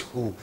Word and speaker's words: who: Who. This is who. This is not who. Okay? This is who. So, this is an exception.